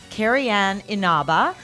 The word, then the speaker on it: Carrie Ann Inaba: And we are so excited to have with us here today Carrie Ann Inaba. Well done on the pronunciation.